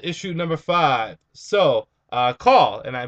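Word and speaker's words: Caul: number five so uh call and I I believe that's how you pronounce the name c a u l uh call goes up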